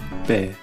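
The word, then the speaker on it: べ: へ He with the dakten is pronounced be.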